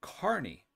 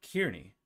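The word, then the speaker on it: Kearny: who pronounces uh eugene properly pronounces kearney's name as carney not kearney and that's just making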